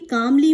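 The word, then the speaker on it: calmly: देखिए, कामली में यहाँ पर एल जो है ये साइलेंट है, ये आपके बोलने में नहीं आएगा, प्रोनाउंसिएशन में नहीं आएगा, प्रोनाउंसिएशन में कामली एल आएगा लेकिन रिटन में, लेकिन यहाँ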